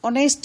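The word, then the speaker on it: honest: जैसे आवर, एन ऑनेस्ट मैन, N honourable man, तो ये एच व्यंजन से शुरू है मगर ओवर व्यंजन के बजाय स्वर यहाँ उच्चारण है।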